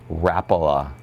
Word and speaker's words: Rapala: And you pronounce that how again? Rapala.